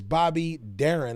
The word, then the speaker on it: Bobby Darin: Anyway, what we have here today is Bobby Darin, I think is the way his name is pronounced.